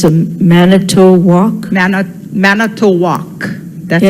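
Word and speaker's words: Manitowoc: of the crane it's called and it's a manato walk man manato that's how they pronounce it m a n i and it's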